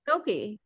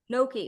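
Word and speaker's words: gnocchi: want to ask you how you pronounce this g n o c i that huh Noki so Noki okay let's let's start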